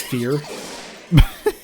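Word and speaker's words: vier: did you know that the German word for four is fear I feel like I've seen that at some point yeah um it's spelled with a V because different pronunciation rules and which means I mispronounce it every time I see it uh oh before Dumas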